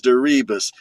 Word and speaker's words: DeRibas: It rhymes with that song. D E R I B A S. The name is Derebus.